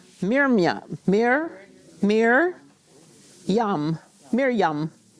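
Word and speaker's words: מרים: Mia Mirror Mirror yum Miryam we might say Miriam but that's not how she would say her name Miriam yeah good good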